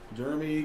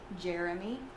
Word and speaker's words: Jeremy: Jeremy. Oh, Jeremy. But you're saying Jeremy. Like, so what does H-E-R spell? Her. J-E-R? Jer.